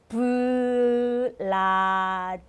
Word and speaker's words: Vladimir: So we pronounce this name as like this. Vladimir.